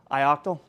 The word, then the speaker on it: ioctl: Uh but first uh pardon me uh ioctal or ioctl is like purely written vocabulary for me. If anyone has a preferred pronunciation shout it at me. Uh ioctal. Great.